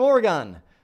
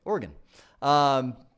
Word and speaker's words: Oregon: side of things so from Oregon or a gun that's not how you say it Oregon so let's see Jerry